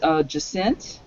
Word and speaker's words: Jacint: Well, I know we were joking about it rhyming with absinthe, which we're keeping in reserve for when the Vizier is vindicated.